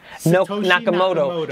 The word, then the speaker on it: Nakamoto: How do you pronounce his name? Nakamoto.